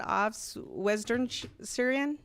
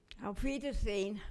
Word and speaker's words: Auf Wiedersehen: She produced 4 books, and you're gonna have to help me pronounce these. Tell me the first one, Aufs Western Syrian? Auf Wiedersehen.